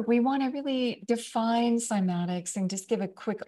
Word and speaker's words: cymatics: it might be the introduction well let's find simatics for those who aren't familiar with the term and first of all spell it c y m a t i CS